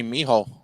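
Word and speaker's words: mijo: I said my my Miho I don't I don't BL you know mij I thought it was yeah as in h as in Jay is pronounced like a ha sound Spanish talking shut up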